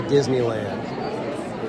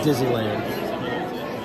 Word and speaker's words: Disneyland: like that it's like I always try to make sure that I say Disneyland cuz there's a lot of people they just call it dizzyland and it's not dizzyland it's Disneyland and thank you for